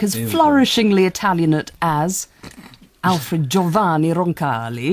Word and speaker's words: Giovanni Roncalli: Can you just pronounce my name again, the middle bit? Giovanni Roncalli.